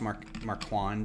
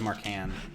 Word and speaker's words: Marquand: who ross marquand is i thought it was mark han that's marquan which i think is a it's his name i can't badmouth how he pronounces his name if that's how it is but i feel like that's the lazy way to say that name like i want it to be french and say mark call or marqua but